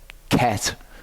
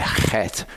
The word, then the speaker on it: Chet: because it's actually a Chet. It's not a Ket. It's a Chet. It's like a H with a bit of a It's the letter that usually makes me do that.